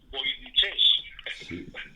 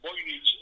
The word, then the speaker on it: Voynich: Lo han llamado a este idioma, y esto sí que tiene la gracia, voynichés, haciendo un poco el nombre de Voynich.